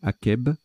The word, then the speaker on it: akeb: On ne dit pas Hacheb, mais Akeb. Au Sahara, végétation qui pousse après une averse.